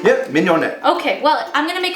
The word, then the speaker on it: mignonette: Yep, mignonette.